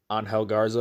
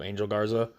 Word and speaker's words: Garza: Humberto, Angel Garza instead of Angel Garza.